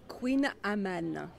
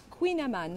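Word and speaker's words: Kouign-amann: So look at the spelling. This is really hard to pronounce. Huh? Say it it's again. It's Breton. Queen Amman. And it's the Breton language, yeah?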